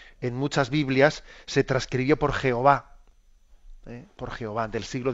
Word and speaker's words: Yahvé: bastante seguridad de que la forma de pronunciar esas consonantes, esas consonantes que dichas dichas en bueno, pues en nuestro en nuestro alfabeto, porque claro, estamos hablando de de consonantes hebreas, ¿no? dichas en nuestro alfabeto son la YWH y nosotros las pronunciamos Yahvé.